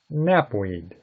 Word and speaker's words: knapweed: Knapweed. K-N-A-P-W-E-E-D. The word knapweed also begins with the letter K. However, in this case, the K is silent.